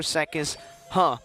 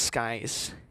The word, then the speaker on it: Skies: So same here for Sekis. And by the way, it's pronounced Skies. Don't ask how. It's Skies, not it's Sekis.